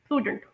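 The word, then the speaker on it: prudent: इसकी British pronunciation होगी प्रूडेंट, प्रूडेंट। और अमेरिकन प्रोनाउंसिएशन होगी प्रूडेंट, प्रूडेंट। और इसमें जो वॉवल साउंड आएगी वो लॉन्ग डबल ओ साउंड होगी।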